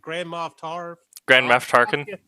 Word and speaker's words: Grand Moff Tarkin: Grand Moff Tarkin.